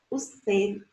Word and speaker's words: usted: E esse demudo, ele é pronunciado em espanhol, sabe? Mas ele é pronunciado de uma forma leve e relajada, como a gente diz. Quase mudo, é quase mudo, mas não é mudo.